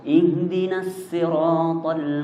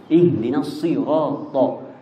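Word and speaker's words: ṣirāṭ: Kita bacanya sod bukan sin. Untuk riwayat Hafs an Asim itu bacanya sod. Jangan sampai di situ huruf jadi sin. Ihdinas siratal jadi sin. Sudah bukan riwayat Hafs lagi. Kalau kita bacanya sin.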